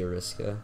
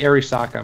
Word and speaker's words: Arisaka: I use the Ariska. It's the Arisaka, by the way.